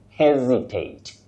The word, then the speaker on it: hesitate: But in this word, we say, or for this word, you say hesitate, to hesitate, with a stress at the onset.